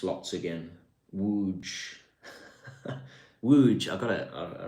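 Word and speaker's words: Łódź: Don't make me pronounce lots again. Wooge. Wooge. I got to I remember Wuge.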